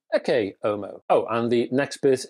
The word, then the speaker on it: Ecce Homo: to the film, well, some people call it Ecce Homo. Oh, because, as you can plainly see, I have a classical Latin approach to life, so I pronounce this one Ecce Homo.